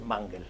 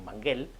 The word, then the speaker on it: Manguel: sabe cómo se pronuncia, pero yo me he enterado, es Mangel, aunque el apellido se escribe sin acento, y por tanto tendría que leerse correctamente en correcto castellano como Manguel, pues no, es Mangel, y lo sé porque